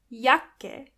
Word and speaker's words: Jacke: And this is where you can see that the letter J is pronounced as Y. Jacke. When you see a C and K together, they are pronounced as K.